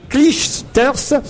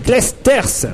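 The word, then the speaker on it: Clijsters: bien prononcer bien prononcer le nom de Kim klichter on doit dire clesters voilà faites un effort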